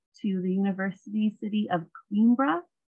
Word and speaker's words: Coimbra: Then we head south to the university city of Coimbra. Looks like Coimbra, pronounced Coimbra.